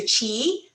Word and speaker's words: Kyi: So you have to make your mouth wide like you're saying cheese, but you say G and it comes out chi.